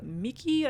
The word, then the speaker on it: Miki: And instead of Red, they were playing as a boy named Steven, who has a Charmander named Miki, I believe it's pronounced, M-I-K-I.